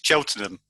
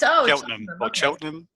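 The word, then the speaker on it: Cheltenham: I see it it's it's cheltonham oh it's chelam yeah I thought it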